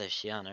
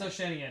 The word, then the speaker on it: Oceania: what was the point I said it's not it's not oceanana it's Oceania yeah okay Millie agrees